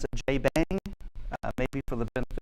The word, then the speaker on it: JBang: Um uh says from there came which is a bad spelling of how the shebang is pronounced in French. So, but I have listened to him speak and he does pronounce it J Bang.